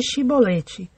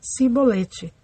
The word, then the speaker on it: Shibolete: Dizendo ele não, então lhe diziam: dize Shibolete. Porém ele dizia Sibolete, porque não o podia pronunciar bem.